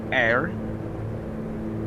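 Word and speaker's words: Ayr: Anyway, we should be coming up on small airport called Air A Y R. going to assume you you're pronounced air and not but after this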